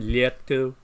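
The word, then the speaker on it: лето: And as I was watching this movie, Summer, what's the Russian pronunciation? Lieto.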